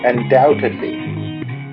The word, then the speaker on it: undoubtedly: do you spell that undoubtedly u n d o u b t e d l y always Indian t support whenever you need help AI it's the future aha the bee is silent